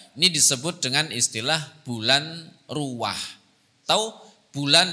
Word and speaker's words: ruwah: disebut dengan istilah bulan ruah atau bulan diambil dari kata-kata Arab arwah akhirnya diucapkan dengan lidah Jawa menjadi istilah bulan ruah Nah ada beberapa sebab